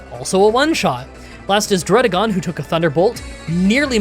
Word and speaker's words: Dragalge: I I just realized recently that this Pokémon is made of algae, and so this is definitely pronounced Dragalge.